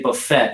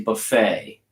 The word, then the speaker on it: buffet: You don't say buffet. You say buffet. Buffet. Okay. So there should actually be a French mark over here to accent. Okay, but Buffet. We're working on stressing the syllables or how the word's pronounced. So buffet and buffet. Okay, they're two different things. One of them's a noun and the other one's a verb. Oh, this is buffet. Buffet. Buffet. Buffet. No T.